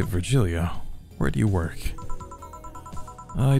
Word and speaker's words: Virgilio: It's pronounced Virgilio. And now I'm pretty sure it's Virgilio.